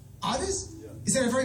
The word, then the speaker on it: Adis: Adis? Yeah. Is that a very Bosnian name? Yes. How do you spell it?